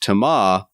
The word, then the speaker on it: Thomas: Thomas's name is pronounced Thomas. The S is deaf.